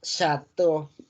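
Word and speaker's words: château: La palabra chateau. La E, la A y la U hacen una O.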